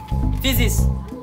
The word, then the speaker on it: physics: Physics. You say physics. As you are saying physics, is F no inside? F is in physics, ba? See what is on the board. Is F there?